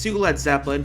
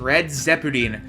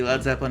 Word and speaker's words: Led Zeppelin: printed out shirts saying red zeputin due to japanese dj pronouncing the name as such on stage and on the radio alright with all that we are done with the led zeppelin iceberg this has been